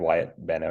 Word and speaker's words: Wyatt Benno: I pronounce properly, Wyatt Benno? Oh, yep, that's correct. Wyatt Benno is correct.